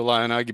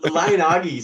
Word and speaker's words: LionAGI: So and by the way, have I been pronouncing Lion AGI wrong all this time? Is it Lion Agi? I like your pronunciation better. The creator says AGI.